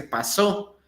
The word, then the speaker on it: pasó: La palabra paso se escribe p a s o, pero también en pasado lo único que cambia es el acento. Se dice pasó.